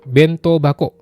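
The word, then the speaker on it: 弁当箱: Yang pertama adalah bento bako. Bento bako artinya kotak bento. Teman-teman pasti sudah tahu kalau hako itu artinya kotak. Cuman di sini bacanya jadi bako, ada teng-tanknya.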